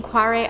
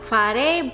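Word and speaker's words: Kvarøy: I think the name is pronounced more like Quare, but that's a little bit hard to say. I don't even know if I'm saying it right, so they use Quare in American English.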